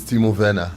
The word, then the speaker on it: Timo Werner: Chelsea fan, teach them how to It's Timo Werner. Okay, Timo Werner. All right, for Germany, anything W, Navi, did they pronounce them as?